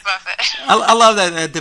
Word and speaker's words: Buffett: and I just said it's pronounced Buffett, right? It's not buffet, and so that wasn't scripted.